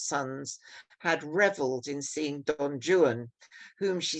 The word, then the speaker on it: Don Juan: way, in other words, Don Juan, not Don Juan. And Byron actually rhymes Juan with new one and true one, which he probably pronounced newan and truan.